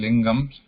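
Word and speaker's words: लिङ्गम्: So there are three genders, three lingams. One is Pullingam, Strilingam, Napumsakalingam. Note that I am using the word, I am pronouncing the word linga as lingam.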